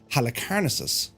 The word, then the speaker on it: Halicarnassus: wonders of the ancient world, the Mausoleum of Halicarnassus. That's how we pronounce it.